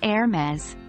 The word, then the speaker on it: Hermes: A famous luxury brand, pronounced as Hermes.